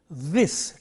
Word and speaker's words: this: We have this sound in a word like this, T-H-I-S, this, T-H-A-T, that, and T-H-E-S-E, these, and T-H-O-S-E, those.